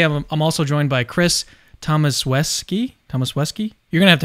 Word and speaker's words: Tomaszewski: And today I'm also joined by Chris Tomaszewski. You're going to have to help me. Tomaszewski. Tomaszewski. The S is pronounced like an SH and the W is pronounced like a V.